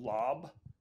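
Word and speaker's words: laab: it's a bit rare it's also someone called lob uh it's spelled l-aab and that's like this minced meat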